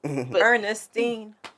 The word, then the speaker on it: Ernestine: my name's so long it is Ernestine it's only three syllables t with hope and